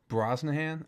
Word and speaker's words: Brosnahan: Brosnahan.